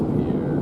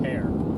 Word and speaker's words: Pierre: So I mispronounced Pierre. It's Pierre. To be fair, we're the ones who mispronounce it. No, I was like calling it pear.